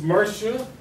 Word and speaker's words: Mercia: Okay, and Miss Mercia, they pronounce it like Persia, who is Eric's